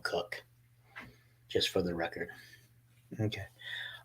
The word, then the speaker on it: Koch: son of Jr um it's spelled k-o-c-h I grew up I had friends that lived across the street from me they spelled their name k-o-c-h but we called them cook just for the record